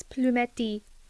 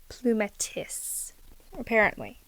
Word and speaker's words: Plumetis: oh, it's French, you say it like this, Plumetis, Plumetis. I was like, well, I'm not French, so how do I say it in English? And it's Plumetis, apparently, according to the Googles.